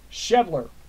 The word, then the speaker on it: Schebler: control F H the schebler it's pronounced schebler okay for any of